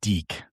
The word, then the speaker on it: DIC: It's Deke is how it's pronounced.